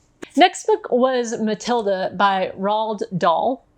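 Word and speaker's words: Roald Dahl: book was Matilda by rald doll am I saying that right Roald pronunciation roal do rolled doll okay so rolled doll the this one is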